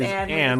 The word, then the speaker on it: Anne: Technically, it's Anne with silent Oh. E. Yeah, see, that's how my middle name is, Anne with a silent E.